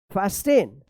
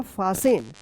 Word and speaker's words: fasten: फास्टेन। क्या पढ़ेंगे? फास्टेन। गलत होगा, इसका सही उच्चारण होगा फासेन, फासन। क्या पढ़ेंगे? फासन, जैसे लिसन, तो क्या होगा?